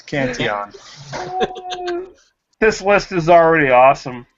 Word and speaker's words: Cantillon: He did just correct your pronunciation of Cantillon. Aaron. It's Cantillon. It's Cantillon.